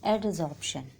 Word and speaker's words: adsorption: उसमें एक टॉपिक आता है एडसॉर्प्शन। स्पेलिंग है ADSORPTION, एडसॉर्प्शन।